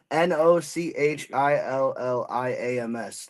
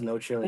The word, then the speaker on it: No Chilliams: NOCHILLIAMS. Like Williams, No Chilliams.